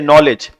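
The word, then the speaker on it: knowledge: शब्दों को प्रोनाउंस करना जैसे नॉलेज नॉलेज में के साइलेंट होता है अगर हम इसका रियल प्रोनंसिएशन नहीं जानते तो उसे क नॉलेज पढ़ देते है ना साइकोलॉजी आप देखते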